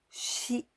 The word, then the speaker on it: 死: and4 this Ki means the death and we pronounce she at first the stroke order red line from